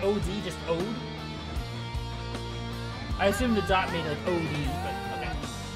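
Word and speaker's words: O.de: Odie, like Ode? Oh, it's not OD, just Ode?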